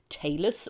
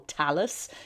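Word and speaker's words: talus: two Shin bones is called the tus or Talis you can pronounce it either way so the anterior Tallow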